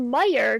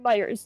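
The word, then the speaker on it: Meijer: So, it's called Meyer. Correct. We call it Meyers. Yep. Oh, just everyone calls it Myers no matter what.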